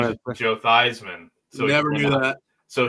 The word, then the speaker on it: Theismann: It rhymes with the Heisman. Joe Theismann?